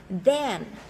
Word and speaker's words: then: Lưỡi đặt thứ hai hàm răng thè ra xong sau đó là đó. Xong đọc là then đúng không ạ?